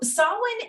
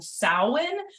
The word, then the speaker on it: Samhain: of year so um so Solon is and that is the current correct pronunciation um I I don't know if it's because I'm in the South I'm in Texas um I I always catch myself saying sowin um and so if